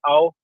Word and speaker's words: Ao: AO stands for blue. It's pronounced ow.